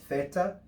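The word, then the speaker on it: θῆτα: But really, to be more perfect, the theta is actually pronounced like the th in Thomas. Thomas. It's the sound of the letter T with some breath. But if you pronounce it with the English th like thin, that's fine. Okay, and most students actually do that. But no, a more perfect pronunciation would be ta.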